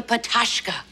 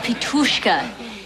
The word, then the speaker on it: Pitushka: Thank you, Mina, for performing that beautiful Bahavian folk dance, the Patashka. Actually, it's pronounced Pitushka.